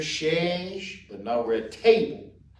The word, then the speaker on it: table: And we pronounce chair, chaise, but now we're at table. Table, which is tab.